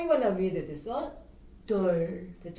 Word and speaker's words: 둘: If the L sound Lieul comes the bottom, it makes what? Just like we talk about, you roll up your tongue and touch your top of your mouth.